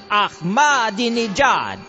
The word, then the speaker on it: Ahmadinejad: I just see it in the newspaper, and I've been told by a linguistic expert that it's pronounced like this. Ahmadinejad. Ahmadinejad? Yeah, I think so. Ahmadinejad.